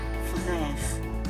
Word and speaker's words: frère: This is un frère. Stress at the R.